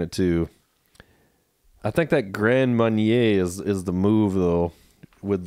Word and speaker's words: Grand Marnier: some of the Grand, is it Grand Mariner or Grand Marinier? Or it's like Grand Marnier. Marnier. I think so. Okay. That's how I always heard it said. Gotcha. That's how the French monks pronounce it.